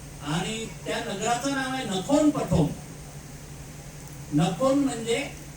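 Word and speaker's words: นครปฐม: फुटाचे बुद्ध आहेत आणि त्या नगराच नाव आहे नखोन पठो नखोन म्हणजे हे नगरच आहे एम एन ए जे आर परंतु थाई प्रोनन्सिएशन मध्ये त्याला नफोन म्हणतात नगरला पठोम पठोम म्हणजे प्रथम म्हणजे मानव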